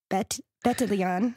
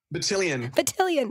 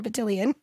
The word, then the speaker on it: Bettelion: And we are very excited about our guest today, Bettelion. We said it wrong and I wanted to say it right. Bettelion. Bettelion. It's a tricky one.